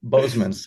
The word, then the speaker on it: Bosmans: Bosmans. The way you pronounce it, it's almost as if he's very related German. to. Yeah, it's almost as if he's related to Phil Boseman. Yeah. I like it. Bosmans.